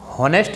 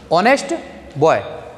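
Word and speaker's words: honest: हॉनेस्ट नहीं, ऑनेस्ट बॉय।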